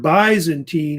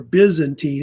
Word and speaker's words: Byzantine: The term Byzantine or Byzantine, it's I guess pronounced different ways, came from the fact that